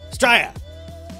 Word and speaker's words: Australia: So we don't say Australia, we say Straya. Pretty much just one syllable, we'll do it.